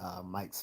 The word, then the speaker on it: Myk: um, so I was watching a really cool YouTuber whom I've spoken with before at Mike's Philippine Journeys. Check out his channel if you get a chance. It's spelled MYK, Mike.